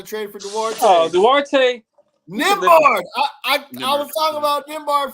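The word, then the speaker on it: Nembhard: Nimbard is him. That's another dude. He's him. I was calling him Nimbarda. Yeah, his name got the unnecessary H.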